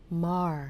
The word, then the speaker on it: Maher: from Real Time with Bill Mah because it rhymes with jar shout out to the